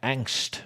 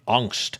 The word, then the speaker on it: Angst: The first headline that is grabbing my attention: Rammstein premiere Angst, or if I were to use proper pronunciation, Angst, single and video.